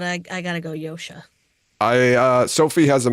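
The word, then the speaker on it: Josha: We're also still pronouncing his last name wrong. It's Yosha Stradoski. That's right. It is Yosha.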